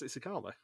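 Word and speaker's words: Tsitsikamma: And I'm like, I know how to pronounce that. I know exactly where it is. It's Tsitsikama.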